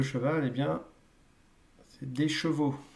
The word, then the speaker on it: chevaux: eh bien, c'est des chevaux. Donc là, le son change complètement à la fin. Et c'est vrai que vous avez tendance à dire des chevals. Non, ce sont des chevaux et ça s'écrit AUX.